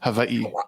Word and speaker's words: Hawaii: Well, technically it's Hawaii. Like you're supposed to pronounce the You're such a bougie ass. W's are from here on out. are V's.